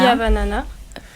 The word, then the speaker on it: Fihavanana: Donc il suffit de se connecter sur la plateforme et de trouver le projet qui s'appelle Fiavanana. Et comme ça se prononce, voilà. Fiavanana.